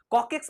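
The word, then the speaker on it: coccyx: Tail bone और कॉकेक्स भी कहते हैं। याद रखिएगा। कॉकेक्स यही स्पेलिंग है। सी O double C वाई एक्स कॉकेक्स बोलते हैं।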